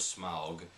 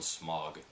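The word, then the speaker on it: Smaug: that I was in we pronounced sm's name incorrectly we always called him smog so apparently it's Smog and that looks not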